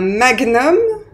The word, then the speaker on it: magnum: oublié diagnostic diagnosticque voilà donc ces mots-là se prononcent gne donc mémorisz les bien